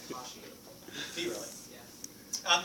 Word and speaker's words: Cauchy: I always say Kashi. Do you really? Yeah. It's traditionally pronounced Cauchy. It's awkward.